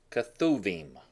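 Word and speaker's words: כתובים: the writings the writings let's look at those that is pronounced kethu vemma that includes everything else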